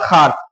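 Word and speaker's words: خوار: ये उसके बाद है खे वाव अलिफ रे खार, यहाँ पे वाव साइलेंट, ये खार मतलब क्या होता है, जलील होता है, जलील, बेइज्जत, दुश्वार, इसको कह सकते हैं।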